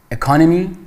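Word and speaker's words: economy: اکانومی به معنای اقتصاد، که اشتباه نکنید تلفظش روی در واقع سیلاب دوم هست، یعنی شما میگید اکانومی، در حالی که وقتی میخواید در مورد درس اقتصاد صحبت کنید میگید اکنامیکس، تلفظش فرق میکنه.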